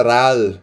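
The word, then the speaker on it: 랄: Por exemplo, se eu coloco um outro L aqui embaixo, galera, o que acontece? vira ral, literalmente ral. Então essa consante acaba sendo um pouco mais complexa, justamente porque se ela tiver embaixo, ela vai ter som de L e não som de R.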